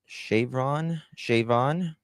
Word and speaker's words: Siobhan: Shavon?